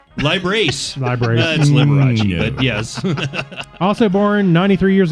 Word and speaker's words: Liberace: this date in 1990 I think it's pronounced ly brace lie brace yes also born 93